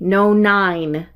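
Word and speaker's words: nonyne: called two methyl three no nine no nine is its pronunciation these are fun here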